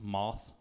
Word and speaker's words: Math: His uncle's name's it's spelled math, like M-A-T-H, but apparently it's pronounced moth.